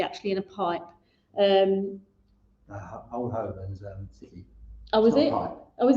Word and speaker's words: Oban: Yeah, old Oban.